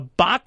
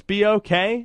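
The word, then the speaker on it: BOK Center: Also a reminder, we'll be on the air 7:45 Wednesday, East Carolina, Tulsa at the Bach Center, I believe it is. BOK, it's pronounced.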